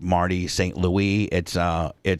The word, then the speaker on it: St. Louis: I'm like, that's a player from the team, and it's actually pronounced Marty St. Louis. He's French.